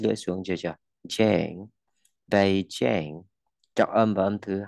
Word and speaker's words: Beijing: Beijing, ok, Bay, đó là Bay, A, Beijing, Jane, Jane, ok, đọc âm y ngắn này, mình đọc thành âm e nhá, âm e nhá.